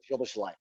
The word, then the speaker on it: Szoboszlai: Actually, that's how they're supposed to pronounce it there. That's how it's Szoboszlai. Szoboszlai, but I don't know.